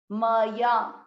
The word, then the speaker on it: मया: मया म पूरा है, जो अक्षर पूरा है उसमें अ मिक्स करना है। म या मया।